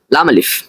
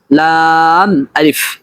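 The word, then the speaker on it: لا: এরপর রয়েছে হামিম, এরপর রয়েছে মিম নুন, এরপর রয়েছে লাম আলিফ। এটা এরকম উচ্চারণ করা ভুল, বরং উচ্চারণ করতে হবে লাম আলিফ।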